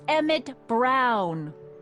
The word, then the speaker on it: Emmett Brown: to a t that's emmett brown rhymes with clown which i'm beginning to